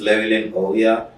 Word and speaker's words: Llewellyn Ouya: that camera and just tell our viewers who Llewellyn Ouya is. And by then, I got the pronunciation of the name correctly, right? Yeah. Okay. So my name is Llewellyn Ouya, and I'm a business consultant, content creator, and a medical student.